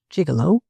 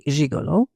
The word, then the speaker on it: gigolo: In the third place, the G-I-G is pronounced gig, and the whole is not a respectable word. Finally, it is a term of utter contempt. A gigolo, generally speaking, is a man who lives off women's money.